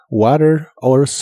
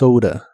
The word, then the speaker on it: plans: las cosas que planeas la a de esta palabra se pronuncia con un sonido de inglés que es una combinación entre el sonido e y el sonido a plans plans y usaremos las palabras